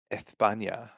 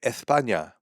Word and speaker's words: España: so many people like "Actually, there's no lisp in España." And so what I said is there is if you have a lisp.